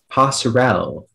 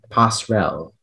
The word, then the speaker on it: passerelle: Speller 93, your word is passerelle.